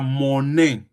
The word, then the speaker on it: monnaie: will not say j'ai la monnaie. J'ai Monnaie is spelled la.